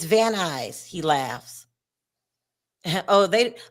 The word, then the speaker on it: Van Nuys: It's Van Nuys. He laughs. Oh, a lot of people, unless you're from LA, don't know how to pronounce Van Nuys. Because it's not spelled Van Nuys.